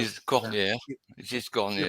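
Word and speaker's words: Cornière: is Corniere. You, It is you Corniere.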